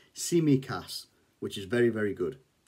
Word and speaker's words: Tsimikas: a squawker about constantinos simicas now in it it actually says that his name is pronounced see me cass so that's very very